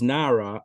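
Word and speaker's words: נערה: So Reish Lakish says, it says, if you look at the pasuk is pronounced Nara, a maiden, a lass.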